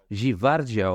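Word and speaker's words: Gvardiol: Guardiol, tá certo a pronúncia da visão? Givardiol, olha que lindo.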